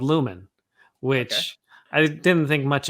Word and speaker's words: Lumen: But it turns out it's Lumen, where on the show it ends in O-N. The field ends in E-N. But I think they're both pronounced Lumen, but it's just that slight change.